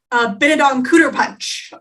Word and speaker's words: Benedict Cumberbatch: But you said his name wrong. It is Benedict Cumberbatch.